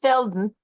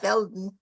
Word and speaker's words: Velden: and felden it's pronounced Feldon right it's spelled velden but it's pronounced Feldon yeah it's it's it's